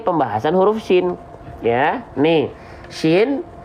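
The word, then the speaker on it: ش: Ya, nih, shin jangan sampai bibir centil karena shin punya tata cara baca, yaitu makhraj atau tempat keluar huruf. Keluarnya dari mana? Kita geser. Keluar dari wastul lisan. Wastul lisan itu artinya tengah lidah.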